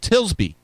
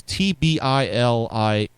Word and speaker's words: Tbilisi: that proved so persuasive on the streets of Tilsby after this month's tainted parliamentary election. So keep the pressure on, right? Doesn't that sound like kind of like Alinsky? The Tisby, I can't pronounce this. It's Tbilisi.